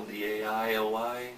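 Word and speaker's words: Daly: Is that spelled like the Daily Mail, D-A-I-L-Y, or do you know? D-A-L-Y. Yeah, just Daily.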